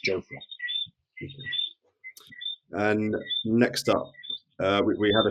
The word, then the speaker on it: Jofra: He's corrected us on the pronunciation of his name. It's Jofra.